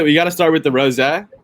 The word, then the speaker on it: rosé: No, rosé is correct.